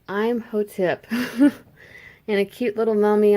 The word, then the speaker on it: Imhotep: Okay, so it's Imhotep.